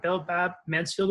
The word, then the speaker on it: Belle Babb Mansfield: Belle Babb Mansfield Award?